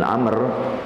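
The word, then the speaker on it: عمرو: Ain mim ro wau kalau ada wau bacanya Amr tapi kalau di depan rnya tidak ada wau dibacanya Umar ya kalau enggak ada harakatnya kita harus bisa memahami kalau enggak ada harakat pokoknya tulisannya Ain mim ro tidak ada wau depannya Nah kalau Ain mim ro wau nah ini beda bacanya kalau tanpa wau dibacanya Umar kalau tak kalau pakai wau dibacanya Amr dari sahabat AB bin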